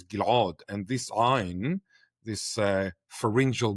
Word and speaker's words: Ghil'ad: in my own name, Ghil'ad. My original pronunciation was Ghil'ad, and this Ayin, this